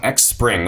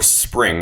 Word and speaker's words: Xpring: your own research so first things first some X spring or spring as its pronounced news shared by Marshall MO so appreciate